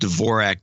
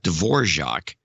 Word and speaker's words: Dvorak: indicates a Russian origin the Russians pronounced Dvorak Dvorak and the and in much of Czechoslovakia is pronounced Dvorak and the American pronunciation is Dvorak period and ascend the